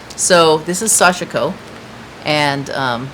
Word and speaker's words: Sashiko: So what we would call Sashiko, putting the emphasis on the chic, you don't. It's Sashiko. Everything is no emphasis, no emphasis. So this is Sashiko, and not that it's